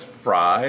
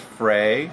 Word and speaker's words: Frey: before taping was that Albert's name is pronounced different ways some sometimes it's Frye sometimes it's Frey yeah in the film